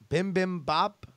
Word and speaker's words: bibimbap: how to pronounce bibimbap bibimbap bibimbap one more it's like bo P at the end not be ap was written as ba p but can't help you